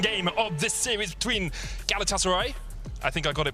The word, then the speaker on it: Galatasaray: couple of tweets saying don't say Galatasaray so it's Galatasaray yeah we'll try if if